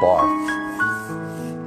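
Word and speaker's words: Barthes: Barth. The S is silent.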